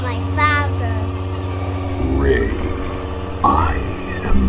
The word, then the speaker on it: Rey: My name is Rey. Wei? No, Rey. May? Rey.